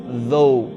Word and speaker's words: though: Ici, le GH, pareil. Le GH, il ne se prononce pas. Il faut les ignorer en vérité. C'est comme si on les voit, mais on les ignore au niveau de la prononciation. Donc, ça fait though, even though, bien que.